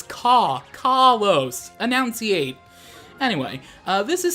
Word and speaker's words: Kalos: Kalos region and yes it is pronounced Kalos like you're saying caw-caw-caw-caw- like a bird a lot of people say Kalos just plain old like